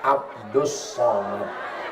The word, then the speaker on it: Abdul Somad: Kalau ini Abdus Somad. Tulisannya Abdul Somad tapi cara bacanya Abdus.